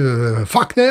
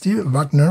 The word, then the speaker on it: Wagner: Et Steve Wagner, si je le prononce en allemand, ou Steve Wagner, si je le prononce en allemand.